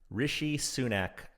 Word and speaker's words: Rishi Sunak: the man who makes rishi sunak sweat and i hope did i pronounce that right uh i think you did yes okay i thank you